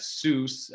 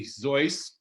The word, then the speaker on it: Seuss: to mispronounce it as soos uh in the good german manner it's actually zoice uh but we're going